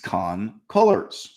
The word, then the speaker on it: Khan-Cullors: The face of the Black Lives Matter movement was Patrisse Khan-Cullors. Okay, she generally pronounces her last name the same as Colors, but whatever.